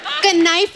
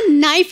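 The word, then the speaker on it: knife: कनाइफ नहीं होता नाइफ होता है। केस साइलेंट रहता है।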